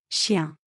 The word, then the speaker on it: chien: So in French it is written and sound as Chien. cat. In French it is written and pronounced as Chat.